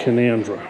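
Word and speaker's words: Canowindra: so that's how you spell it but they pronounce it conundra so we're in the fossil Museum or major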